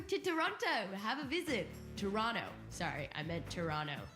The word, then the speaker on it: Toronto: first live show in Toronto for the hot dogs podcast Festival on November the 19th so go to Toronto have a visit Toronto sorry I meant Toronto you don't pronounce the T learning thanks to everyone